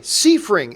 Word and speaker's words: Seifring: Maurice Seifring writes, last name pronounced Seifring. You know what, Marie? I think quite often I think I say Seifring. I think sometimes I say Seifring. But anyway, Seifring is the correct way to pronounce it.